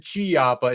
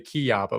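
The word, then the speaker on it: Chiappa: my opinion doesn't matter because I said chiapa instead of kiappa.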